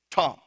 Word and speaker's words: tom: If we were to transliterate this word, we would spell it T-A-W-M, tom.